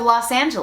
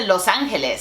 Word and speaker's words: Los Angeles: names are in Spanish, so what do you call the city of Los Angeles (English pronunciation)? When it comes to cities in the US, I'm gonna pronounce them in English because in the context that I'm speaking it makes sense. I'm not gonna say, "Oh yeah, I went to Los Angeles (Spanish pronunciation)."